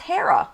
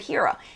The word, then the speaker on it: Hera: Ashley says Hera is pronounced Hera. I didn't know that. I've always said Hera.